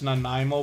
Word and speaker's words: Nanaimo: it could be i the way that it's spelled makes me think that it's nanaimo bars and somehow i believe i've heard somebody say it that way but i can't be